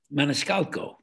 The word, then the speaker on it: Maniscalco: And Sebastian Maniscalco. If I'm pronouncing his last name correctly.